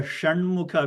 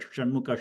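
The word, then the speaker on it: षण्मुख: The Saraswati sa is simple sa, and the Shanmukha, which is a Murdhanya, where you get a little bit of a whistling kind of a sound. When you normally pronounce that Shanmukha sha, you get a little bit of a whistling kind of sound because your tongue is rolling upwards.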